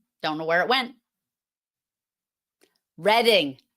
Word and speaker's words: Reading: Reading, not reading. It's not reading like the verb. It's reading like the color.